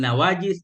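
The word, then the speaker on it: نواجذ: olehmu atasnya sunahku bin nawajiz dengan gigi geraham Bagaimana cara baca nawajiz Bil mujamati dengan mujamat dengan bertitik Zal nawajiz jamu najin dianya nawajiz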